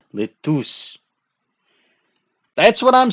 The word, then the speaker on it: LeTouse: It is not lettuce, it is LeTouse.